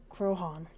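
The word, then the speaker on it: Croagh Patrick: Crogan is a mountain in the west coast of Akil Island that descends into the sea. The fictional big house situated on its slope is named after it. Pronunciation, Crohan.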